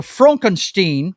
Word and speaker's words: Frankenstein: the first one is Frankenstein or Frankenstein if you uh pronounce it the Mel Brooks way uh let's see